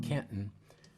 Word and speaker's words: Canton: We call it Canton, which is how you pronounce it when you're from Canton.